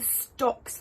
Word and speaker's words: Stox: It's the stocks variety, which is spelled S T O X.